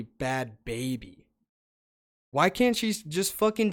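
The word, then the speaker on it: Bhad Bhabie: So I thought it was Bad Barbie, like the fucking doll, but it's actually Bad Baby.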